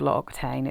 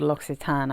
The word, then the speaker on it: L'Occitane: any of you um it's not called log Tain it's called logsitan I think but you'll have to